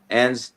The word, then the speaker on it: Enns: Enns? Yeah, Enns.